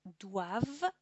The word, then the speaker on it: doivent: et il ou elle doivent. Attention à la prononciation, doit, devons avec le E, devez et le pluriel doivent, porque no se pronuncia jamás la ENT.